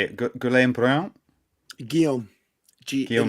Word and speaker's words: Guillaume: Guillaume like Briand.